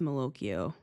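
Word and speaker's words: malocchio: This feels like Mokoio to me without without the Italian accent, right? But that's how it's pronounced. Mokio.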